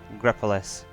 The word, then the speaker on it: Grepolis: how you pronounce it Grepolis g r e p o l i s it's Greece and pois which means town in Greek g g